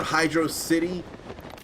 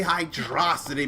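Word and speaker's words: Hydrocity: 2 or Hydro City I'd rather say hydrosity because the way it's spelled in game it looks like it's one word hydrosity but I thought I heard Yuji Naka who apparently is a criminal or somebody say Hydro City or they say it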